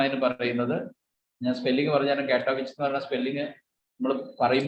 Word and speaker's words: Katowice: വേണമെങ്കിൽ ബ്രാക്കറ്റിൽ എഴുതിയോ കാറ്റോവിച്ച് എന്നാണ് വായിക്കുന്നത്. നമ്മുടെ കെ സാധാരണ വിച്ച് തന്നെ കുറയില്ല, ഈ ആ വിച്ച് pronounce ചെയ്യുന്നതാണ് കാറ്റോവിച്ച്.